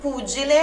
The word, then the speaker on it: pugile: E tu sei come un pugile, olha aqui o GE também. GE, GE tem um som explosivo. Angelo, pugile.